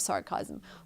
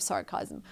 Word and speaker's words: sarcasm: And it's sometimes used with a hint of sarcasm. Okay, we don't say it like that. We say sarcasm. Sarcasm. 3 syllables. Not 2, but 3 syllables.